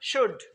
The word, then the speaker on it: should: शुड come, L silent है, इसको शुड नहीं पढ़ना है, शुड।